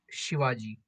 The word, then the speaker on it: Shivaji: So the pronunciation is Chhatrapati Shivaji.